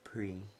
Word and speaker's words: Prix: For those of you who are really retards, the X is silent, it's pre.